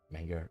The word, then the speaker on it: Manger: Oh, it's ballet, Manger. Rhymes with ballet.